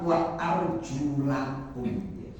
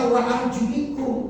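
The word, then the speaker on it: وَأَرْجُلَكُمْ: Wa arjulakum ada baca wa arjulikum. Ada apa bedanya wa arjulakum dan wa arjulikum? Kan cuma beda ai. Wa arjulak bacanya la, bukan wa arjuli kan li hasra.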